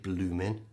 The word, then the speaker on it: bloomin': So we know the word bloomin'. That intensifies the word sweltering. Remember, we don't pronounce the G, bloomin', but we do pronounce the G on the sweltering, sweltering.